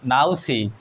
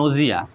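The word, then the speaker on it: nausea: ইউ এ সি এ নাউসি কিন্তু আসলে নাউসি উচ্চারণ হবে না এটার উচ্চারণ হচ্ছে নজিয়া নজিয়া নজিয়া নজিয়া মানে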